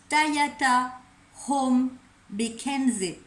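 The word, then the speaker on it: Tayata Om Bekandze: Alors ce mantra-là, il se prononce Tayata Hom Bekenze. Alors, on y va. Tayata Hom Bekenze.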